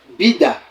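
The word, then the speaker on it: vida: la vie vous voyez ici là le V est lu est prononcé comme le B en français Bida Bida la la vie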